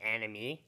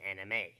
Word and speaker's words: anime: Do you pronounce it anime? No, you pronounce it as anime.